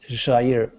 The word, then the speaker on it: Jair: Yes, my name is in Portuguese is called Jair. Jair. Yeah, Yeah. in Spanish, the J is not pronounced, so it'd be Jair.